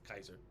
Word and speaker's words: Caesar: That's why they say Kaiser, because technically I think it would be pronounced Kaiser, because C is a hard sound in Yeah. Latin. We just are used to Caesar.